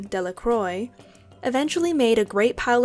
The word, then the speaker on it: Delacroix: Bobby and Harry Jones, and Dickie Delacroix, the villagers pronounced this name Delacroix, eventually made a great